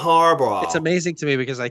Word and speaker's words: Harbaugh: Say Jim It's Harbaugh. amazing to me because I can't imagine you can't pronounce this name.